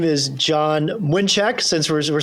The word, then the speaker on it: Mlynczak: my name is John mnek since we're we're saying our polish pronunciations here I am president and